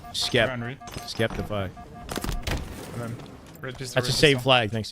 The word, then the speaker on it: Sceptify: Go for Should be Septify. Phonetically, it should be Septify. Yeah, it's just not. That's why it sounds wrong to me, but I think he himself calls himself Skeptify.